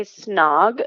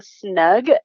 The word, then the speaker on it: snog: And then Catherine, I think she was trying to say snog, but she kept saying snug.